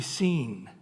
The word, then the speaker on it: Sin: do you pronounce s-i-n it's actually seen is the way they pronounce it and somehow the the